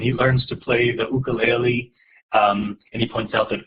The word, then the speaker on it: ukulele: learns to play the ukulele and he points out that he calls it an ukulele because that's the pronunciation of the origin of instruments as opposed to the ukulele um he learns to